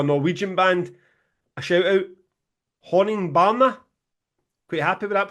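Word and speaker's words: Honningbarna: to give a Norwegian band a shout out Horning Barner. Quite happy with that pronunciation James. Very happy mate. I was waiting for it. Horning Barner.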